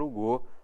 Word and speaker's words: Hugo: homenagem ao Victor Hugo o Victor Hugo na pronúncia francesa portanto item 3 verdadeiro